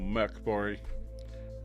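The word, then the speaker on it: Mörk Borg: So in third place is Pirate Borg by Limithron, and it's basically Morkborg or Merkborg for our Swedes so that they can tell me off for pronouncing it badly.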